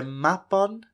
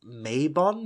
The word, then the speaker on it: Mabon: modern day Gloucester where mapon has been kept prisoner since he was but a baby mapon or perhaps you may have heard it mistakenly pronounced as mabon or maben nowadays this word evokes